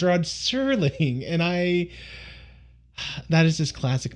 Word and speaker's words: Rod Serling: So I've been consistently calling him Discount Rod Sterling, which I thought that was the correct name of the actor, but no, I was getting that name wrong. His name is Rod Serling, and that is just classic me to a T.